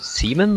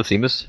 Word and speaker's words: Seamus: Okay, I think we got someone called the Seaman on the channel. Oh yeah, he's the no, that's not actually how he pronounced it, but that's the server owner. Hello, Seamus.